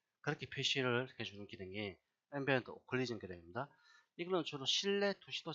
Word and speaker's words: occlusion: 앰비언트 O라고 읽어도 되고요. O라고 해도 됩니다. 오클리전이라고 합니다. 오클리전.